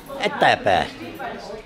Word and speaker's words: Etapa: Etapa. Atapa. Yeah, Etapa. If you want. Okay. They pronounce it many.